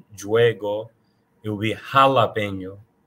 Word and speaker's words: jalapeño: J is pronounced as H. So the H, the letter H itself is silent, but when the J sound, the J letter is used in Spanish, it becomes an H sound.